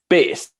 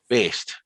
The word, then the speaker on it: Baest: I think I think it's closest to BASED. That's kind of like the closest I've heard to it.